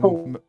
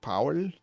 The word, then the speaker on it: Powell: You look like you need some Paul. You're the best. medical aid. Yeah, it's pronounced Powell, but yeah, that's fine. You can say it in your strange surface accent, but yeah, no problem.